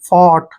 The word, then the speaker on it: fought: तो इनको पढ़ने का उच्चारण क्या करेंगे, देखिए FO का उच्चारण हम क्या करेंगे, फॉ, ऐसे फॉ करना है, और UGH को साइलेंट रखना है, और टी को टे पढ़ते हैं, फॉट, ऐसे फॉट।